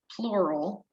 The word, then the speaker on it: pleural: Anytime you see the word plural, it's not the term meaning more than one. Here it's spelled P-L-E-U-R-A-L, refers to the lung.